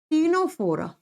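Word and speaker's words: Ctenophora: पर आता है स्टूडेंट्स टीनो फोरा लिखा जाएगा सी से प्रोनाउंस किया जाता है टी से टीनो फोरा सेम नाम हिंदी में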